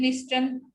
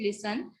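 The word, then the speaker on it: listen: देन लिस्टन नहीं बोलेंगे, will speak it लिसन. टी जो है वो साइलेंट रहेगा.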